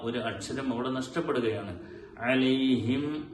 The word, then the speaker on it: عليهم: അലൈഹിം വ അലൈഹിം വ അലൈഹിം എന്ന് പറഞ്ഞ് ചുണ്ടുകൾ പരസ്പരം ഒട്ടിച്ചേർന്നാൽ മാത്രമേ മീം അവിടെ ഉണ്ടാവുകയുള്ളൂ.